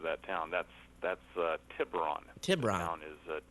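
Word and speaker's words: Tiburon: city and uh you were wondering about the pronunciation of that town that's that's uh tibron TI town is tiberon it's a small sleepy town right North of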